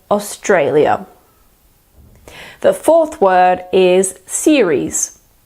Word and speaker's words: Australia: so they will say Australia but you have to remember that the second a is just like the a in day so we say Australia the fourth word is